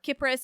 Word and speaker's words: Kypris: common alternate names are kipris and cathera and yes I recognize it's confusing to pronounce the country and island with a soft sea Cyprus and her name with a hard kipris they are the same